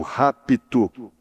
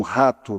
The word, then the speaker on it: rapto: E se não se pronunciar bem claro, eles pensam que vai ser um rato, não é? Eu tenho ouvido isso, vai ser um rato. Dá para entender? Vai ser um rato. O rato virá e coisa e tal. E eles ficam pensando que é o rato mesmo, um rato virá, não é? É o rapto. É um P mudo aí, mas que tem que ser pronunciado.